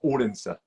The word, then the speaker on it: Odense: odense how we would say but it's it's pronounced ordinster um my mom is Danish so it was